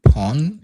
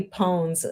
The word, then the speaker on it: pwn: Oh, now so we had this discussion yesterday about how to pronounce this word pwn. I should be pawn, isn't? Yeah, they said it's like own because it's a misspelling of own for some reason and became went viral, I guess.